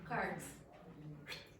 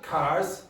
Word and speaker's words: cards: So, it is not cars, it's cards.